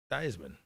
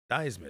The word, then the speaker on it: Theismann: He changed the pronunciation of his last name. Yeah, no, it's Theismann. Theismann.